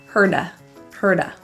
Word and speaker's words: hurt: The T in hurt is pronounced as a flap T or a quick D. Herda.